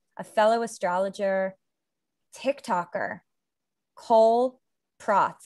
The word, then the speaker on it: Prots: Today, I am with a fellow astrologer, TikToker, Cole Prots. I just realized I didn't ask if this is how you pronounce your last name correctly. Did I pronounce it correctly? You did perfectly.